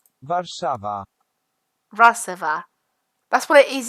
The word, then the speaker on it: Warszawa: also it's Warsaw in English in Polish they'd pronounce it was sold ok in Polish it's warszawa receiver that's where it is in Polish and